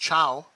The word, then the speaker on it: Thiaw: Thiaw, or as someone in the comments told me that his actual name is pronounced Ciao. Ciao, like the Italian word to say hello or bye.